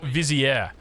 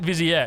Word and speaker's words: vizier: learn how to pronounce viziere it's not viziere it's vizier I think I'm pronouncing that correctly but now Village is